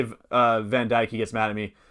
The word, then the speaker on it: Van Dijk: But yeah, he's Dutch, and that's how you say it's not Van Dijk. It's Van Dijk.